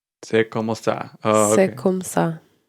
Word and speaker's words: C'est comme ça: So I'm just gonna play the pronunciation, and I'll tell you what it means in French. C'est comme ça. C'est comme ça.